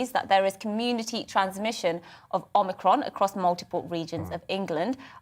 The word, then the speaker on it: Omicron: And it is, I can confirm, Omicron. That's how we pronounce it.